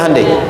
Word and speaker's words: Hyundai: Hyundai kan dibacanya Hande ya kan?